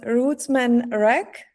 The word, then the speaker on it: Rootsman Rak: So you're also known as Rootsman Rak. Do I pronounce it correctly?